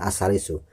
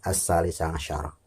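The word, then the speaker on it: الثَّالِثَ عَشَرَ: Mungkin tadi saya ngomongnya as-salisu, yang benar adalah as-salisa syaro. Yang 15 al-khomisa syaro utawi kang kaping 15 bikuniyatul khuruji niat metu minas sholati saking sholat.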